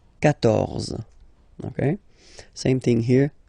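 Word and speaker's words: quatorze: So remember, Q and U here, well, basically you've got to put this U vowel, because that's the rule in French, even if you don't pronounce it, okay? So you will get the sound K here, K, 14, 14, okay?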